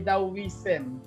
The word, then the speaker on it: Taoism: Okay, Taoism o Taoism. Ang pronunciation diyan ay Taoism.